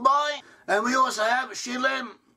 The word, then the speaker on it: Shilem: And we also have Shilem, pronounceable as Silem, who also possibly gave